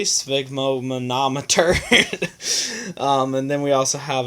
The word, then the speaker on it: sphygmomanometer: as I can and no one else can pronounce it correctly sphygmomanometer and then we also have a pulse oximeter